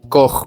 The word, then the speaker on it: Koch: es el microbiólogo Robert Koch. Que una curiosidad es que su apellido en realidad se pronuncia Koch porque es alemán y la CH en Alemania se pronuncia J.